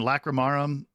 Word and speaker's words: Lacrimarum: animated him jd uh lacremorum did i say it correctly yeah i mean lacrimarum like romarum yeah hell yeah so